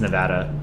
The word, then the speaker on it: Nevada: I'm 99% sure it's Nevada.